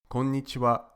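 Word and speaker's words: こんにちは: this evening that's why the ha at the end is pronounced wa because it's the topic particle to sum up here's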